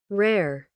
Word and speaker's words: rare: Rar rar, né? Não é, não é rar rar. Vejam só. Rare, rare, rare. Rare rare, rare. Bem difícil de pronunciar.